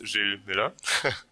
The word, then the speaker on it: Gilles Muller: hi everyone uh my name is Jill Miller don't worry my name is very often mispronounced in Germany so that's fine um so